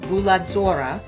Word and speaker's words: Bylazora: ancient Greek source and should probably be pronounced Bylazora, sounds remarkably like the modern Slavic words Bila and Zora, which mean literally white dawn.